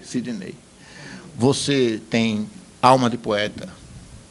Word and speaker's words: Sidney: que lá no Ceará me chamam de Sidney até escrito o o a a sílaba forte é noi Sidnei você tem alma de